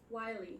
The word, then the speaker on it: Wily: Wily Captain Clive. Alright. Right? I'm saying that right? It's Wily? Is it? Wiley. Yeah, I am.